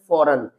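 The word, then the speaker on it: foreign: अर्थात जी letter silent रहेगा। इसको हम रीड करेंगे फौरन।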